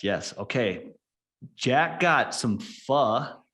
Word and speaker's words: pho: Jack got some pho. That's how they told me to pronounce that word. Pho. I wanted to say pho or foo or something, but heard that it's just like saying a bad word, the first part of a bad word.